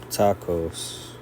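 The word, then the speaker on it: πτωχός: Tacos.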